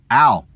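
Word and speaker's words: אל: The first word family for no that we went over is al. Al is spelled alf lammed which is the same spelling for the word god alf lammed.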